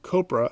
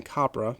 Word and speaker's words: Copra: Uh, Death of Copra. I've been saying Copra, but literally at the beginning of this book, it tells you it's Copra. It rhymes with Cobra.